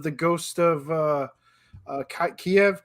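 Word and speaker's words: Kyiv: of uh uh kiev kiev kiev so if you say so so the way if you say it's the russian way to say it the the ukrainian is kiev you add the extra syllable all right so there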